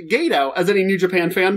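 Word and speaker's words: Gedo: it's Chris Jericho versus Gado whom they entirely mispronounced his name the entire match calling him ghetto and even when they asked for the correct pronunciation mic today told them incorrectly ghetto it's pronounced Gado as any new Japan fan knows and guys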